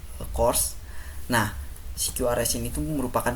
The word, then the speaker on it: CQRS: Nah, selanjutnya pattern yang kedua adalah CQRS atau biasa dibacanya course.